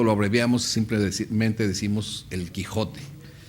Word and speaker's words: Quijote: pasa al español como Quijote, vamos a decir, porque antes la J en español se pronunciaba así como una ch suave, era Quijote, como también